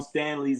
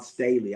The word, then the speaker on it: Staley: Dawn Stanley's there. Dawn Staley. I have to say it right. I keep calling her Stanley.